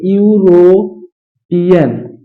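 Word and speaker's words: European: कि ए लगाएंगे तो इसको हम उच्चारण करेंगे तो उच्चारण क्या गा है इसको ऐसे लिखेंगे यूरो पियन यूरोपियन इसका प्रथम अक्षर किसम आ रहा है क से अज्ञ के बीच में आ रहा है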